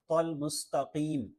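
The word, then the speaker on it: المستقيم: پڑھنا ہے۔ اہدنا الصراط المستقیم، تو یہاں تو ہے، تا نہیں ہے، تو اس کا خیال رکھنا ہے کہ تا نہیں پڑھنا، تل مستقیم نہیں بلکہ تل مستقیم۔ مستقیم، صراط الذین انعمت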